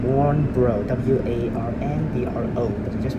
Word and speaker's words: Warnbro: Warnbrow. W-A-R-N-B-R-O. But you just pronounce it Warnbrow.